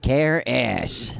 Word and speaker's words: Karras: That was Karras. Karras. Not ASS. As. Yeah, Karras. Just one S as.